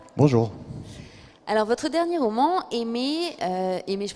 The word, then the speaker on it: Heimaey: Alors votre dernier roman, Aimé, Aimé je prononce bien déjà? Aimé.